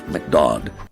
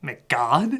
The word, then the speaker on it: McDodd: A man named McDodd. Wait, what? McDodd. Wait, what? McDodd. McGod? McDodd. McGod? McDodd. Whatever, you just call him that to rhyme with odd.